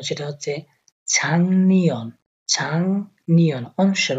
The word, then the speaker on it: 작년: যে উচ্চারণ সেটা হচ্ছে ছাংনিয়ন, ছাংনিয়ন অনুসার উচ্চারণ হবে। গিয়কের উপরে যখন নিয়ন আসে তখন এই গিয়কটাকে অনুসারের মতো উচ্চারণ করা হয়, তো ছাংনিয়ন, ছাংনিয়ন।